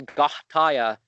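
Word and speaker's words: Goetia: sigil writing, just like some people think the Gahtaya, you know, because that's the Greek pronunciation, Gahtaya.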